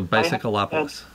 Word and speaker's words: Bicycleopolis: That's spelled the same as bicycle, except of instead of ending with an E, as bicycle does, just add opolis, as in metropolis. So Bicycleopolis.